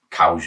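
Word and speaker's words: Coues: your small whitetails like the Coos deer cause deer a lot of people pronounce it that little one down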